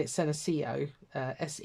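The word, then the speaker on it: Senecio: shapes there's one in particular called uh I'm pronouncing it senio uh SE e n e c i o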